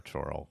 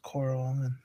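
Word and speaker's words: Chorrol: If not, you can go to Coral, which is right there. Yeah. Or Choral, whatever you want to call it. I heard it pronounced Coral in the city, so I'm going with Coral.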